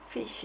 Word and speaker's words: fish: 근데 F 발음이 좀 신경이 쓰이죠. F 그래서 fish 이렇게 해야 되는데 보통 fish 이렇게 말할 때가 많죠.